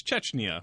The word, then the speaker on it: Chechnya: did it from uh Chetchna. Yes. I never heard of this country before to be honest. I am not surprised. I didn't know what it's Cheschna, right? Yes. You're saying it correctly now.